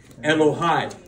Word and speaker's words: Elohai: Elohai. Elohai. Now, you've heard that in a recent song. Yeah. Now, so we sing this. Elohai. But Elohai means my God. I like it because it's personal. Elohai.